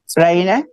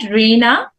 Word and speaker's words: Raina: Raina? Miss Where's Raina? Raina? Hello. Did she pronounce it right? Raina? Yeah, you pronounce it Reena.